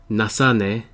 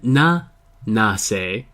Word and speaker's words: Nase: High schooler Morina Nasane and Nase, not Nasane, has begun working as a part-timer in an Italian restaurant, Trattoria Festa.